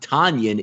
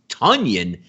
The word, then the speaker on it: Tonyan: we now know is not tanyan it's tonyan for the uh so